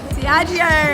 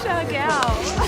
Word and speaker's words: Siargao: Diageo. How do you say it? Siargao. Siargao, that's the one.